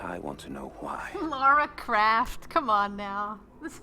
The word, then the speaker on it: Lara: Guys, please don't spell it like Laura. It's Lara, not Laura.